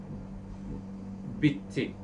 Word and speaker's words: bitti: It is like in Turkish word bitti, it finished. So you hear two T's, big T, and in